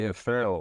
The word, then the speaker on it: Færø: So, my last name would be Frell. Well, that's how I would pronounce it in English anyway.